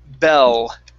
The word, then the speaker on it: bell: with the word bell make sure to touch the top of your tongue to your mouth sorry touch the tip of your tongue to the top of your mouth bell val there you go